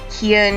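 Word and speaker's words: Kyan: poor Kieran has four it's spelled like Ryan but I'm saying Kian you're kind k-y-a-n four letters so he was wealthy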